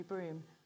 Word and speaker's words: Brougham: i'll accept that yeah it's usually pronounced broom but mormon broom is